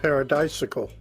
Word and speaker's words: paradisical: Paradisical. Paradisical, so like bicycle.